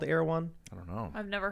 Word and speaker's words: Erewhon: how it's pronounced. Erewhon.